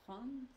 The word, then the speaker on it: prend: But can you pronounce, do you have to pronounce all of the letters? The last letter doesn't.